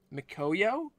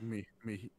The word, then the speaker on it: miHoYo: Mikoyo? There's no K in there. It's a font. I'm sorry. Yeah, it's like Mihoyo.